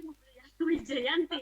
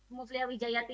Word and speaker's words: Mufliha Wijayati: Sering ada ini Mufliha Wijayati, Mufliha Wijayanti ya. Ya. Sering baca seliweran namanya Mufliha Wijayati atau Mufliha Wijayanti. Oke, biar tidak salah penulisannya, pelafalannya, saya akan bacakan. Beliau ini, Mufliha Wijayati ini adalah sekarang ini menjadi tenaga pengajar di